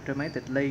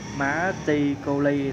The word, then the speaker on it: dramatically: Cái này đọc tắt là dramatically nha, chứ đừng có đọc kỹ quá là dramatically là không có đúng.